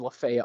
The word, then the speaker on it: Lafayette: here below the Y and lefat Boulevard or Lafayette Boulevard how it's pronounced here in Fredericksburg um this would look